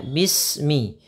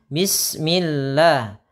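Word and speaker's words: بسم الله: pertama kita perhatikan ya dalam pelafalan bismillah yang kadang-kadang kita membaca huruf ba di sini kadang-kadang ada yang membacanya dengan e maka hati-hati usahakan ketika kita melafalkan B itu dengan sempurna kasrahnya dibaca dengan b kemudian huruf Sin disempurnakan sukunnya Bismi ya bismillah Bismillahi ah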